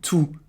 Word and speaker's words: tous: We're going to talk about whether or not we have to pronounce the S in tous or tous. Well, sometimes we do say it, sometimes we don't. And here's the reason why. You will not say the S when it's followed by a noun.